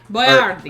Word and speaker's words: Boiardi: Boiardi. Actually, no. It's Ettore Boiardi. And then they started calling him Hector Boiardi. And he put his name on his chef's hat, spelled out Boy-R-D.